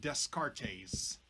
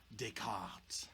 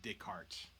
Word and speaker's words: Descartes: his name it's not descartes right it's a french name descartes but you can just say descartes right like day the word day daytime and carts like a cart that you put something in right so descartes is